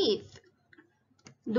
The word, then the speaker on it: the: สังเกต ไหม คะ ว่า ครู อ่าน ว่า ดู ดี Exercise ไม่ ใช่ ดู The Exercise เพราะ ว่า อ่าน ตัว E เป็น อะไร คะ เป็น เสียง สละ ดัง นั้น ต้อง อ่าน ว่า ดิ หา จาก The จะ กลาย เป็น ดี้ ดู ดี Exercise ออก